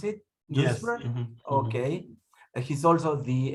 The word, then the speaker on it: Duisburg: That the way you pronounce it? Duisburg?